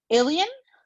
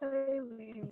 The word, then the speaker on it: Eileen: Alien? It's Eileen. I know the spelling is weird.